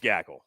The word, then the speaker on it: Gackle: It's Gackle, right? It's Gackle.